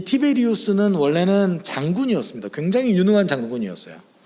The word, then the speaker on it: 티베리우스: 사실 디베리오 황제는 정확한 이름은 티베리우스 황제예요.